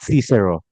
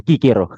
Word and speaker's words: Cicero: Jadi Kikero ya atau dalam bahasa Inggris ada yang sebut Cicero. Ya, tapi dalam nama dia dalam bahasa Latin pengucapan aslinya adalah Kikero ya.